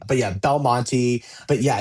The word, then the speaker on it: Belmonte: So, Belmonte, not Belmonte.